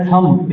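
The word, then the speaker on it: thumb: वहां पर व्हाट है थंब इसमें बी नहीं है बी साइलेंट है इथ इथ और एम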